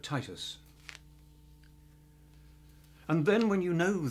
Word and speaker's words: Titus: So it's not Titus Andronicus, but Titus.